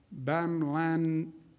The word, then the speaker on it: bamlanivimab: Additional good news, FDA has allocated 4,600 doses of the therapeutic bamlanivimab. How do you pronounce that, doctor?